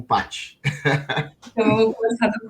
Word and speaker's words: Pachi: Eu queria muito saber por que se escreve P-A-C-H-I como Paty.